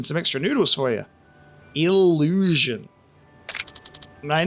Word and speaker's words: Illusion: Illusion. My name is Illujin, and yes, I give autograph. He's mispronouncing his name.